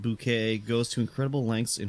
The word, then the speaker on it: Bucket: sign up for breadbox hyacinth bouquet bucket pronounced bouquet goes to incredible lengths